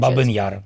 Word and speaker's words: Babi Yar: the The name, uh, how do you pronounce the name of the monument in your language? Babi Yar.